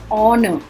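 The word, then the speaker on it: honour: Next है ऑनर. Honest, ऑनररी, ये सब हमने क्लासेस में किया है. सो ऑनर में एच साइलेंट होता है.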